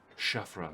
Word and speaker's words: Shafra: my name is Shafra.